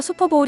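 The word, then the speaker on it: Super Bowl: 이때도 스펠링은 25w 일입니다 따라서 수퍼보울 이라고 발음하는 게 웃습니다 왜 볼이 아니라 볼이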